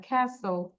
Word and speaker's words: castle: উচ্চারণটা হবে না দেন CASTLE, এই যে টির উচ্চারণটা হবে না, ক্যাসেল, ক্যাসেল বলো, উচ্চারণ করো, ক্যাসেল, সাথে বলতে হবে ক্যাসেল, ক্যাসেল।